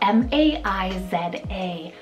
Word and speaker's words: Maiza: For M, I have the name Maiza, spelled M-A-I-Z-A, Maiza.